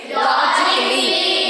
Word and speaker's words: logically: first word is logically what we should say logically because a is silent I told you that